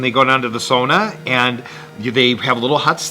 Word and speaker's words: sauna: I know we have to wrap here, but I did go into the sauna. There's a sauna culture in Oslo. Yes. Is the sauna? I'll pronounce it as they do. Yeah. Sauna.